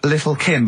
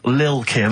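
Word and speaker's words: Lil' Kim: Now, Steve, I see there, it's a track by Little Kim, but how are you pronouncing it? I'm pronouncing that correctly, Lil Kim. Oh, no T's involved.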